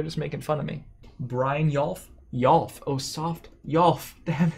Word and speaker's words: Brynjolf: But yeah, I think Brynjolf, now that we know how to pronounce it, that's a big part of the card.